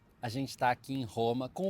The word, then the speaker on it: Roma: And I'm noticing, I think he said Roma. So he's pronouncing the R as an H, as an aspiration.